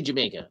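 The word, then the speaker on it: D'yer Mak'er: So, it's basically Jamaica, but right? It's an English, you know, the way an English person would say Jamaica. So some people call it Diamaker. I've heard it called Jamaica.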